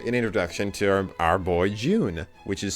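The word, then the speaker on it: Jyun: introduction to our boy june which is spelled j-y-u-n which i'm not going to be pronouncing it g-yoon because that's dumb and i'm white i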